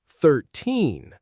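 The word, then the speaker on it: thirteen: Listen to the stress. 13. The stress is on the end. And for 30, the stress is at the beginning.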